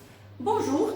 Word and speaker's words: bonjour: Bonjour é uma exceção daquela regra que eu falei, né? Porque nesse caso a gente pronuncia esse Rzinho do final, tá? É bonjour.